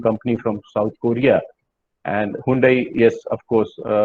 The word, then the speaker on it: Hyundai: And Hyundai, yes, of course, we call it Hyundai. They call it Hyundai. H is silent.